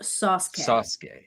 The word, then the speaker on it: Sasuke: Dr. Applesauce says it's pronounced Sasuke.